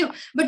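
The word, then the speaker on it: jojoba: लिखने में ये जोजोबा है, एंड प्रोनाउंसिएशन में इसको हम होबा कहते हैं, ठीक है।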